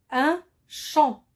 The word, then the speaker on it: champ: j'ai cherché le mot leurs familles deuxième exemple un champ le monde la même famille un chanteur a